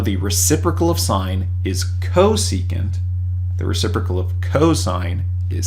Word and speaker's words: cosecant: abbreviated with csc instead cosecant all right cos is reserved for cosine already but that's pronounced cosecant now if we want